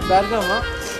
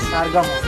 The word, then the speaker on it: Bergama: But Bergama is just a sound differences from the Bergamo. I mean, the first Turkish people come here, we were calling it as a Bergamo also. And slowly our pronunciation started to change and we started to call it as Bergama.